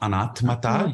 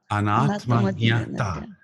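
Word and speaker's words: अनात्मज्ञता: Not anatmata. You missed one syllable. Anatma. Anatma anatma Jna. nyata Jnata. anatma nyata. Anatma jnata.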